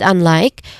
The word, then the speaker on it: unlike: We start with unlike, which has two distinct syllables. First syllable is the stressed syllable here. It has a short vowel sound. So like in cup, there's un, and then it's followed by like, where it has a clear diphthong sound.